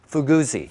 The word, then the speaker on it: Fuguzzi: And how do you say this? Fuguzzi. Fuguzzi. It's like an Italian car.